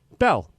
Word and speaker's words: Belle: You know, bell is the right way to say it, right?